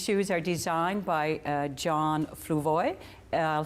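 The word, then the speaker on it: Fluevog: And these shoes are designed by John Fluvoy. I'll spell that F-L-U-E-V-O-G, John, in case you're shopping in Toronto or other places.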